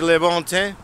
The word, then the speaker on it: Le Bon Temps: All right, here we are at the Le Bon Teint. And they don't pronounce the last word usually, but here we are.